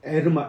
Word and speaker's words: 헤르마: 그 다음에 헤르마 또는 에르마, H가 묵음이라 성경에는 허마로 이렇게 나온다.